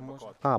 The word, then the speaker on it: Бакота: Бакота і Бакота, да. От мені Бакота теж мене аж дратує, Бакота. Всі ми трішки буковині. Ну так, коли ти знаєш, як правильно наголоси говорити, то тебе дратує, коли неправильно І говорити. коли з іншим наголосом це звучить вже як якась Бекота, то вона тригерить.